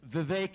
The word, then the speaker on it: Vivek: name is Vivek ramaswamy it's Vivek it rhymes with cake as some of you